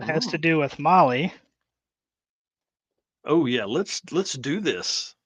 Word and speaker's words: Mahle: And for all you podcast listeners out there, Molly is spelled Mahle.